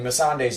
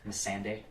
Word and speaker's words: Missandei: Fucking hate the way that the directors pronounce her name in the behind the scenes. Miss Sunday.